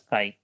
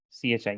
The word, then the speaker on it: chi: denoted by this letter it looks like x but it is pronounced as chi c h i chi okay so chi if